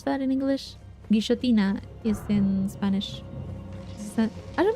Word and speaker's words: guillotina: In Spanish, at least where I am, double L is pronounced sh. Like a SH type of sound. So it would be guillotina.